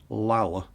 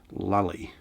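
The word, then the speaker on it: Llull: his name was probably originally pronounced ramon lower l u double l but it's been anglicised in the western hermetic tradition to raymond lully and to stick him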